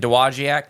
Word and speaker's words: Dowagiac: In Dowagiac, Michigan. Dowagiac, yeah. Yeah. Dowagiac? I think it's Dowagiac. Dowagiac. I don't think you pronounce the W.